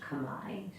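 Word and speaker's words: Khmer: phonetically would be K but it's most often pronounced Kamai so it's the Kamai language they refer to the Kamai people being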